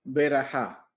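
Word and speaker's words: ברכה: La palabra bendición viene de una palabra en hebreo que se pronuncia verajá. ¿Y qué es verajá?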